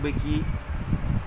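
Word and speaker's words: Mbeki: আমি মাতিব লাগিব হেনাকে যদিও এম আছে এমটো প্রনাউন্স মানে উচ্চারণ করা নহয় অবশ্যই স্পেলিংয়ের সুবিধার কারণে আমি মনত রাখার কারণে এম বেকি মাতিব পারো নিজের সুবিধার কারণে কিন্তু আমি মাতিব লাগে থাব বেকি ওয়াজ সোয়ার্ন ইন এজ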